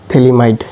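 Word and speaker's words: Phthalimide: थैलीमाइड इसका नाम थैलीमाइड है। पी वाला साइलेंट होता है। थैली माइट इसका थैलीमाइड होता है।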